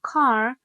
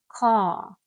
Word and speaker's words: car: like RP received pronunciation, this R is often silent unless it is followed by a vowel. So car sounds more like car, and bird sounds more like bird, bird.